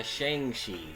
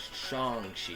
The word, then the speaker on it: Shang-Chi: time pronouncing his name everyone called him by shangshi but kevin feige himself said it was chongshi and it took me